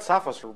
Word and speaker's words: Tsafos: This is how I want to pronounce it. And I will pronounce it that way forever. You got Tsafos very well.